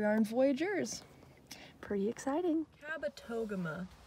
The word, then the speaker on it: Kabetogama: in voyageurs pretty exciting kabetogama that's how you say the lake of voyageurs kabetogama i know i was saying it wrong anyway um i'm here